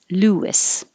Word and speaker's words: Louis: And it could also be spelled like this, like St. Louis. Louis.